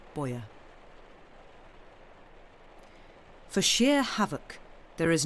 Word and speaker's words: Bojer: How does one pronounce this person's surname? Is it Bojer? Bojer? Is it that? Bojer.